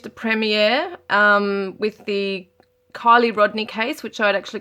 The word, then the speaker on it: Kiely: premiere um with the kylie rodney case which i'd actually called akili it's so annoying because i knew it instinctively that her name was kylie but i went on